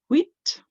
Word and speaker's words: huit: Huit, huit. It's a funny one, isn't it? Huit only really has 1 syllable, even though it's got UI in the middle.